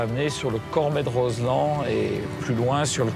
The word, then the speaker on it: Roselend: » Au bout de cette vallée, l’un des barrages les plus spectaculaires du massif alpin : le Barrage de Roselend (prononcer Roselan) Il a été édifié à la fin des années 50 sur le site d’un ancien village d’alpage.